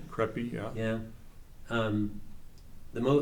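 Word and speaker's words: Khepri: names to pronounce but creppy sounds like k h e p r i creppy yeah yeah um the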